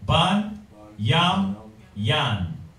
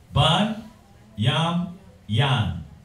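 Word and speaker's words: בנימין: Ban, Yam, Yan. Brothers get that wrong. That's why I'm pronouncing it. Ban, Yam, Yan.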